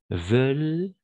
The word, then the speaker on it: veulent: à Marseille parce qu'ils veulent oui en effet on ne prononce jamais ent à la fin donc ça marche tu as bien prononcé parce qu'ils veulent vivre